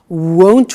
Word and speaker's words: won't: winter it won't be sunny is the negative won't remember the difference between will not won't and